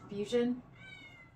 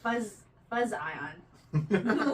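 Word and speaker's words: Fuzion: They just added a Z instead of an S because they're fancy. The teacher and me got real confused. I went it's phonetically. Not a word. I went phonetic like fuzz ion, which is Okay, I knew was wrong.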